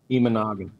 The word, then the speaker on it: Imanaga: But Gray against, say his name again, because you pronounce it a lot better than I would have. What is it? Imanaga.